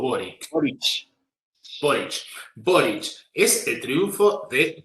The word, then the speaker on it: Boric: Bueno, ya que con esto podemos, en realidad, el motivo de esta charla es, ¿cómo se le pronuncia? Boris o Boric. Boric.